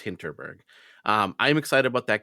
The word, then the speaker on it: Hinterberg: hitberg H was it hintonburg is that how you pronounce right it's I think it's hinterberg but could beong I could be wrong I think you're right you're right you're right no it's hinterberg um I'm excited about